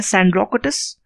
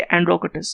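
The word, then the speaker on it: Σανδρόκοττος: तो in Greek इनको 2 नाम से जाना जाता है, एक है सैंड्रोकोटस और एस को साइलेंट कर दीजिए, एंड्रोकोटस।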